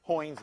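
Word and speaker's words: Heun: care okay if you the short name is hins Method but nobody knows pronounces that correctly uh so that's Hy's method uh it's called also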